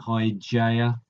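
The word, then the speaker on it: Hygiea: Although I've heard this pronounced in so many different ways: Hygeia, Hygeia. But I think Hygeia, I think, is the way most people go for.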